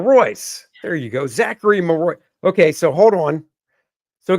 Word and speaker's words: Marois: it's Mary Mar Mary there you go Zachary maroy okay so hold on so guys we do